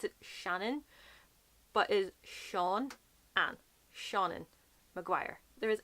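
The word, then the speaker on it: Seán: I don't know what way this video is around, but it actually goes up on the E, so it's Sean.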